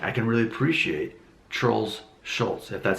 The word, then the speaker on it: Schulz: can really appreciate trolls Schultz if that's how I'm pronouncing his name I wanted to say Schulz like there's a tea but there's not actually a tea in it so this comedian one